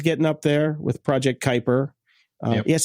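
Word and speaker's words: Kuiper: But anybody who's been to fucking junior high school knows it's called Kyper. Like the Kyper belt, that shit up in space, you dumb fuck.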